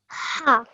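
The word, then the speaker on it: حاء: Now try and make that H sound from the middle of your throat. So try that again. H. Ha.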